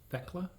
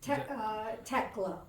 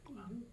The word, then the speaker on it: Thekla: And you pronounce it Thekla? Is that right? Tekla. Tekla. The Oh, okay. H just becomes T. Tekla.